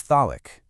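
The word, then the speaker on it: ذلك: The word for this, or it, is thalik.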